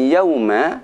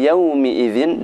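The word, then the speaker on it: يومِئذٍ: Jadi bukan yauma, akan tapi yaumi idzin dengan dibaca kasrah mimnya.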